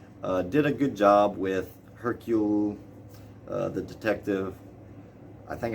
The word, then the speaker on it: Hercule: a good job with hercule uh the detective i think i'm pronouncing it right because he's like it's not hercules it's hercule hercule uh so he he